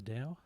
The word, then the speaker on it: Tao: Meditations on the Tao. Depends where you come from. Does it? I think Dao is Chinese, Tao is Japanese.